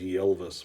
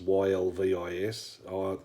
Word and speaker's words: Ylvis: It's called What Does the Fox Say, by a band called, I think it's pronounced Ylvis, Ylvis.